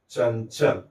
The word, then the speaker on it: चंचल: अर्थात हमें इस अनुस्वार का उच्चारण ञ की तरह करना है। तो इसका उच्चारण हमें ऐसा करना चाहिए। चंचल। ठीक है?